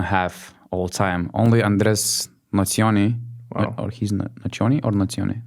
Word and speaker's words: Nocioni: Only Andres Nazioni, or he's Nazioni or Nazione? Nazioni, maybe. If it's Italian pronunciation, then it's Nocioni, right?